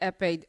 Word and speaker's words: Ekpe: u d o h the k is silent f a um were